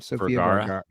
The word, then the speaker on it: Sofia Vergara: How do you pronounce her name? Sofia Vergara.